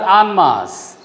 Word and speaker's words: en masse: Just like en route is pronounced, it is pronounced as en masse.